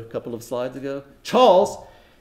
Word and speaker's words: Chawls: a mill worker declared, Charles, that's those worker tenements I showed a couple of slides ago, Charles in central Mumbai have been replaced by malls. There it rhymes.